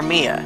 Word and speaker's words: Mia: older sister's name is spelled mia mia but could be pronounced maya or mia so i'm going to